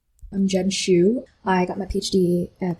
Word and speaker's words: Xu: And you know, my last name is pronounced.